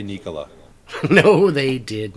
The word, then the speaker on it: Nikola: I got to start saying Nikola because that's actually how it's pronounced.